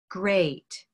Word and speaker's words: great: good now great has the same ei but it sounds different great great gray day great and bread is a